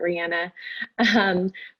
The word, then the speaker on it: Rihanna: My elevator pitch is Riana like the singer, but I think she actually pronounces it Rihanna.